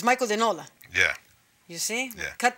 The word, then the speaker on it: De Nola: But I was saying to you Michael De Nola, like very Italian. Yeah. But it's Michael De Nola.